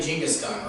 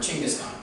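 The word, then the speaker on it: Genghis Khan: stone by the way uh his the correct pronunciation of his name is actually jinga's gun or ching is gone yep yep that's that's the actual correct pronunciation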